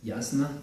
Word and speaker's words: Asa: or her life, and it is pronounced Yasna, and it's kind of